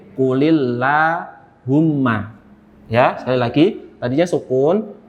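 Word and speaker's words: قُلِ اللَّهُمَّ: Maka yang sukun ini harus diganti jadi kasroh. Jadi qulillahumma.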